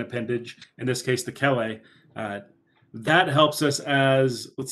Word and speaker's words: chelae: chelae or chelipeds here, CH is always that K sound. You're not going to get kicked out of the club if you say chelae or chelipeds.